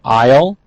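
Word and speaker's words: aisle: of nouns we have isle notice a-i-s-l-e but the s is silent groceries and pound produce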